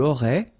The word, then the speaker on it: aurais: Tu aurais, same thing here, final S not pronounced.